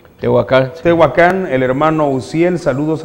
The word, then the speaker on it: Tehuacán: que tenemos que darlos desde Tehuacán así se pronuncia Tehuacán Tehuacán El hermano uciel Saludos al hermano Benjamín